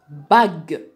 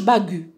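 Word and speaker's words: bague: Alors, quand c'est suivi par un E كيما هنايا عندي B-A-G-U-E هنا ننطق باغ. ما نقولش باغو.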